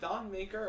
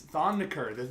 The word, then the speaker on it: Thon Maker: Is it Thon Maker or Thon McCurr? It's Thon McCurr. The correct way to say it is Thon McCurr.